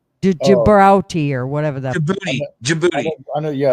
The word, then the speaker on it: Djibouti: Dave, the answer to that one, was it Debrauti, Djibrauti, or whatever that. Djibouti. I know, yeah, It's pronounced Djibouti.